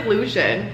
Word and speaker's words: Lucian: like a clown, like when I did Lucian earlier in this video. It's literally Lucian, and there's another Lucian in this book.